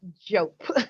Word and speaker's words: Diop: That's Diop. Diop. Oh my goodness. Oh, the D is silent. Yes. Yes. The DI has a J sound. Oh, so okay. JOEP phonetically.